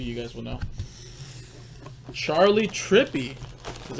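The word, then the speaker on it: Trippi: guy but maybe you guys will know charlie trippy is how you say it Beckett certified there's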